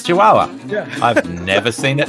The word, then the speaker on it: Chihuahua: to Let's no yeah you're gonna have to pronounce that oh it's Chihuahua I've never seen it spelled oh Chihuahua that